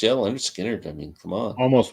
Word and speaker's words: Lynyrd Skynyrd: MC5 the one that probably won't get mentioned Leonard Skinner pronounced yeah Lynyrd Skynyrd I mean come on almost made my list